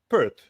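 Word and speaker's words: Perth: em forma de repita a palavra australiana, Pert. OK. Obrigado. Gostei da pronúncia.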